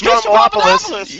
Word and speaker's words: Stroumboulopoulos: George Stroumboulopoulos.